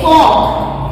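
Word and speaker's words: folk: Next rule is L before के, अगर के से पहले एल आ जाए then L is silent, like F ओ एल के, फॉग, एफ ओ एल के, फॉग होगी, फॉल्ट नहीं होता।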